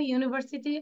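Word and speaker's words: university: কিন্তু দেখো ইউনিভার্সিটি উচ্চারণটা কেমন? ইউ। মানে ইউর উচ্চারণ যদি ইউর মতোই হয়, তাহলে আমরা এখানে আর ভাওয়াল দিব না।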